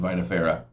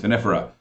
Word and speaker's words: vinifera: I've also heard it pronounced vinifera, but still, I've always pronounced it Vitis vinifera.